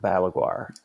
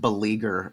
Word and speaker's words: Balaguer: And so now it's like live, it's like half Fender and half Balaguer, right now. I'm glad you're pronouncing that the right. I've always said beleaguer.